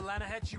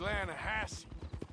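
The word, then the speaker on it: Lannahechee: rode down to the Lana Hetchy River I caught some beautiful steelhead trout you maintenance no no no the Lana hatch it runs right near here yeah but it's pronounced Lana Hass why is everything in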